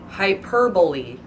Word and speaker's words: hyperbole: a lot of people hyperbole hyperbole okay that's how it's actually pronounced what I see it